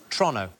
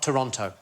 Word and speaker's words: Toronto: And everything seems to be pronounced a little bit faster than it should be. So, it's Toronto, not Toronto. Oh, is it Toronto? Toronto. Toronto. Toronto. Like as quick as you possibly can, like it's a crime to say it.